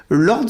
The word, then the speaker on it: Lordz: Alors, ce magazine, vous allez nous en parler, il s'appelle Lords, je le prononce bien. C'est ça.